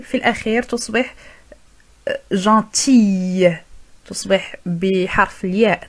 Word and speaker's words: gentille: بالنسبة للمؤنث نضيف L E وننطق حرف L في الأخير تصبح gentille. تصبح بحرف الياء. تنطق بحرف الياء في الأخير.